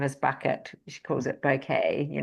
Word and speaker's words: Bucket: Um, hyence bucket, she pronounces it bouquet works hard to impress all others.